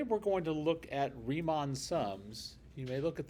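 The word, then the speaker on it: Riemann: Today we're going to look at Remon Sums. You may look at that and go that that's a that's a really weird way to pronounce that. It's because it's not English. It's German.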